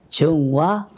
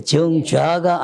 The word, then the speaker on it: 정와: 입관했느냐고 물어보고 입관했다고 하면은 입관편이든지 그 다음에 정화 예, 정좌가 아니고 정화지요. 요새는 누워 있으니까 정화라고 읽어야 되겠죠.